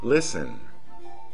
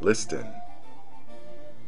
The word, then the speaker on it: listen: being pronounced centuries ago you should never pronounce the T in the following words listen never listen hasten never hasten fasten